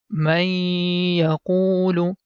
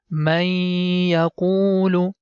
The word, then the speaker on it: مَن يَقُولُ: Here this man sound is going to merge with Ya. Whenever you see letter Ya is appearing in green color, that time the previous syllable is going to merge with Ya and the sound becomes May, and this sound we have to do for 2 seconds.